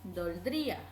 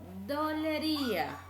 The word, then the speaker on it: dolería: Tampoco debemos decir doldría. Es incorrecto. Debemos decir dolería.